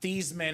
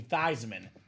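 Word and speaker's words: Theismann: He was the speaker for it and he actually told the story about how his name was uh Thesman and became thyman.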